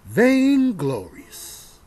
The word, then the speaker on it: vainglorious: Vainglorious. That's how you say it.